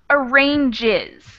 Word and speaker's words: arranges: third of tune excellent it's just like the word garage it ends in that soft G sound so it is the third column it becomes arranges we add an extra syllable arrange arranges thank you very much how